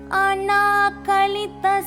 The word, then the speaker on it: अनाकलित: நமஸ்காரம் ஓம் ஸ்ரீ மாத்ரே நமஹ let's learn Lalitha Sahasranamam shloka number 12 அனா கலித சாதரிஷய சுபுக ஸ்ரீ விராஜிதா அனா கலித நா பக்கத்துல துணைக்கால இருக்கு சோ நா தீர்க்கமா உச்சரிக்கணும் அனா கலித இங்கிலீஷ் ஸ்கிரிப்ட்ஃலோ பண்றவங்களுக்கு செகண்ட் ஏக்கு மேல ஒரு லைன் கொடுத்திருப்பாங்க.